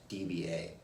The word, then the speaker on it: dBA: decibels using a weighted song levels or it's pronounced DBA the a weighted sound levels closely match the